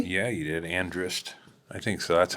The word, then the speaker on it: Andrist: say your last name correctly yeah you did andrist I think so that's how I've always heard